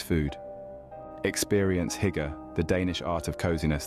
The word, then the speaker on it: hygge: Experience Hygge, the Danish art of coziness that's become a worldwide phenomenon. Hygge, pronounced hygge, is not just a word but a concept, a feeling, an experience.